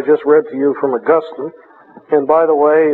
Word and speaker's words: Augustine: read to you from augustine and by the way it's uh it's pronounced augustine not augustine saint augustine is in heaven and saint